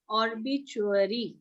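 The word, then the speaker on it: obituary: Ma'am, how do we pronounce ORBITUARY? ਬੱਚੇ it's ऑर्बिचुअरी, ऑर्बिचुअरी, और भी पहला बच्चों next ऑर्बिचुअरी, चुअरी, ऑर्बिचुअरी, ऑर्बिचुअरी, ठीक है।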